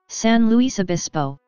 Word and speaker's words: San Luis Obispo: san luis obispo california san luis obispo slash senlaspspo slash spanish 4 st louis bishop pronounced or slow slow slash for short is